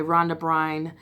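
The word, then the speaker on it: Rhonda Byrne: will read the book called the secret by Ron de Bruyn and that's how you say her name and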